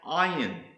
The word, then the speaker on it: Ayin: The first letter is an Ayin, a Yod, and a final Nun, and it's pronounced Ayin.